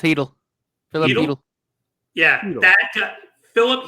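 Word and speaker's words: Chytil: bot this name phck hidle I think it's pronounced hidle it is it's pronounced heel Philip yeah that Philip heel Victor manini and a 2025 first uh that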